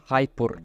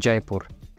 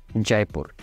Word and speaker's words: Jaipur: tengo que parar un poquito porque él está pronunciando hyper y yo creo que Luisito también así pronunció hyper porque se escrita J a i p u y r y eso para ustedes es hapur pero la verdad eso se pronuncia jaipur Entonces